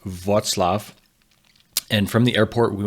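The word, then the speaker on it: Wrocław: I flew into Roclaw, which actually is pronounced Vatlaf and from the airport we went for a run in the Polish mountains.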